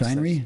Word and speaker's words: The Shinery: I presume that's how you pronounce that? Yes, Shinery?